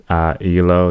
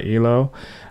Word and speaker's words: ELO: So I think this will be my second song by Elo. So we're going to check it out. Or I think it's pronounced E-L-O, if I'm not mistaken from the comments.